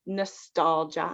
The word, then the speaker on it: nostalgia: So it's GIA, but we don't pronounce the I. So just nostalgia.